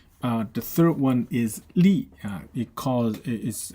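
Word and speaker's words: 吏: one is history uh the third one is Lee yeah because it is it's pronounced Li uh by now that means uh a government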